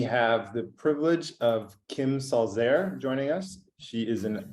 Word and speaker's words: Salzer: want to make sure my last name is actually pronounced salzer german i want to